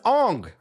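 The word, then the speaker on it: Aang: My name is Ang. you made a movie about Avatar the Last Air Bender and you couldn't get his name right.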